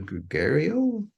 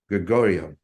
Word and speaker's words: Gregorio: do thanks uh we'll go to gregario or uh I don't know hello can you see me can you hear me well hi I can how do you say it how do you say your name Gregorio I love that accent